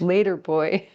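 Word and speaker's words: l8r boi: to read the name it's later boy and it's spelled l8 the number eight r so later boy b-o-i l-8-r-b-o-i if you want to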